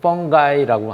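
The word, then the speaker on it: fungi: 이번 시간에는 바로 이어서 이제 균류, 펀지 또는 뭐 조금 이제 재미있게 발음하는 표현으로는 펑가이라고 하는 형태로도 발음을 합니다.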